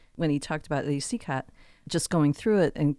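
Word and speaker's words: Cicotte: Well, and it's been mispronounced so many times over the years in movies and pop culture references where they call him Sicati or all sorts of different variations that we've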